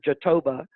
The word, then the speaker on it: jatoba: not graviola but it's a rainforest tree called jatoba j-a-t-o-b-a and k-t-o j interesting uh-huh well you well the the english pronounce pronunciation phonetically is jatoba but it's pronounced in brazil as jatoba and